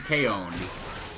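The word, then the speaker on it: Kaon: So and his name is Kon. Kind of like the anime Kon spelled like K A I K A O N though.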